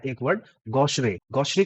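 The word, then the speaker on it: gauche: spelling है इसकी जी ए यू सी एच ई लेकिन इसका प्रोनाउंसिएशन है गोश गोश का मतलब होता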